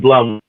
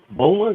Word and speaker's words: Bulma: I said Blum. Bulma? Bulma?